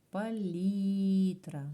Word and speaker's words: палітра: 8 букв 8 звуків і наголос палітра на букву і Отже що ж таке